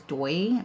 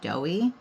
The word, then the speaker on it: Doi: going up with glitter in my head I'd been pronouncing this as doy but then I saw on sweetie nail they were calling it doughy so I'm trying to